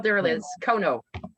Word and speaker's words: Konow: it is spelled there. It is Kono, right?